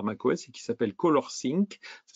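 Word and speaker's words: ColorSync: est fourni par Mac OS et qui s'appelle colorcink ça s'écrit c'est o l o R s y n C colorcing et vous pouvez carrément même afficher les profils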